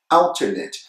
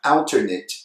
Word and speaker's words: alternate: for an adjective so adjectives that end in at they're going to sound it so we have alternate adjective it and in